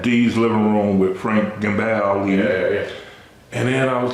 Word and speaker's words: Gambale: How you pronounce it? Gambale is.